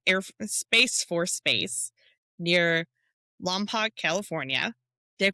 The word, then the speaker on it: Lompoc: as Vanderberg Space Air Space Force Base near Lamp, California. Did I pronounce that one right?